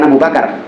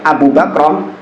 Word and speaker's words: Abu Bakrah: Maka kata Abu Bakrah, bukan Abu Bakar, Abu Bakrah, dia mengatakan, uskut, diam engkau.